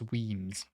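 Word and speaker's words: Wemyss Bay: Is not Weemus, it's Weems.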